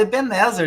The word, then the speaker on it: Ebenezer: pedra e né benzer é Ebenezer e benzer né mas a gente fala Ebenezer entendeu Isís Mas é porque